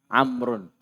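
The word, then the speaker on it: عمرو: Kalau ada wawunya apa bacanya? Amrun. Amr.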